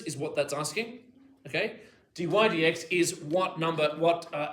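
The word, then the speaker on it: dy/dx: Do not say dy over dx. Well it sort of is. It is pronounced as dydx d or the the derivative derivative of y with respect to x.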